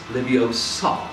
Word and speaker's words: Leviosa: it right and Hermione says no it is Leviosa in the think floors and it's simply maybe the pronunciation of the words and at the conclusions